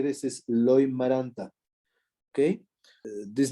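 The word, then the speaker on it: Loimaranta: And yes, the proper way to say this is Loy-Maranta, okay?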